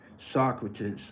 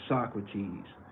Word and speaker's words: Socrates: passages Jackson answered Socrates but pronoun but but pronounced it so Socrates Jones corrected him Michael is Socrates and the look he gave me then it